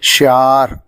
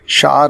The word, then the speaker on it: شعار: کا ہمارا لفظ ہے شعار، جو درست ہے اسے غلط طور سے شعار بولا جاتا ہے۔ اس کے معنی ہیں